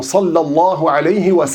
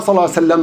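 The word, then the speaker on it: صلى الله عليه وسلم: Donc on s'applique, on fait le maximum pour prononcer correctement salah alayhiam. C'est pas salam.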